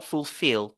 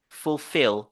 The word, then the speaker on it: fulfill: sur come overcome overcome et nous avons fulfill fulfill fulfill vous avez vu on se focalise sur la deuxème syllabe fulfill donc ça c'est sont